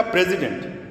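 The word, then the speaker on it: president: ایک ہوتا ہے شروع میں ہم نے کہا پریزیڈنٹ، اس کا سپیلنگ کیا ہے؟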